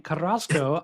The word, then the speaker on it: Carrasco: First of all, thank you for pronouncing my last name, Krasco.